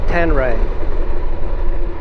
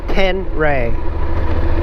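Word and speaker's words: Ténéré: But in Europe they say tenere. Tenere. And here in the United States they say tenere. Tenere. 3 syllables. But I don't like the name at all.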